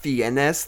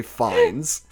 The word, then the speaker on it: Fiennes: moment Oh another correction i've been saying ralph VNS this whole time the guy who plays Voldemort apparently his name is Ralph Fiennes whatever it's spelled in a funky French way it looks like fie NS apparently you just say fines but he has this